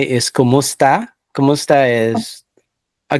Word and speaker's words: kumusta: it is spelled K-U Oh, K-U-M-U-S-T-A, and that is one word.